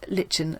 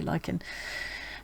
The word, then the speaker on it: lichen: lot of dyeing with lichen lichen however you want to pronounce it resquam lichens but i think you can say lycan and um she got